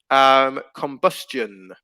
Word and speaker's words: combustion: Combustion. Silent T, combustion. Depends on how you pronounce it, actually. So combustion. I would pronounce it combustion. Combustion. Yeah, it's a sound. Combustion. So it's not silent.